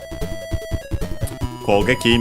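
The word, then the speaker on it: 攻撃: I've already mentioned it because it's unaccented, because the geki in it, it's one of the kanji we've studied today. Kogeki means attack.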